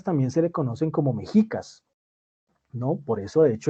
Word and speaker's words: mexicas: Es decir, el sonido que se coloca ahí como J, como hoy en día lo pronuncia uno como J, en su momento, en Nahuatl, se pronunciaba como sh, como cuando uno calla a alguien, sh, SH, ese es el sonido, SH, ¿sí?